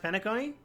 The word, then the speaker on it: Penacony: It's pronounced Penacony?